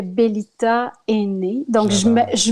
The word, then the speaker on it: Bellita: donc je vais prendre le nom beliet à qui se prononce bien dans toutes les langues donc c'est comme ce qui est bel ita et n'est donc jamais